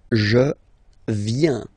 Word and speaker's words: viens: First form, je viens. Final S not pronounced. Je viens. Remember, I-E-N, ien, ien.